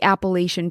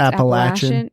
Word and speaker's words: Appalachian: Yeah, well, because it's also I want to say too, because where I'm from, we always say like the Appalachian Trail, yeah, but it's actually pronounced Appalachian.